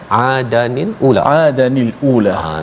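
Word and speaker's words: عَادًا الْأُولَىٰ: Salah satunya adalah Adal macam mana bacanya, Ustaz? Adanil ula.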